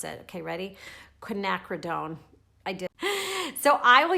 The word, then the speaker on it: quinacridone: a long time to figure out how to pronounce it okay ready quinacridone I did so I will use this magenta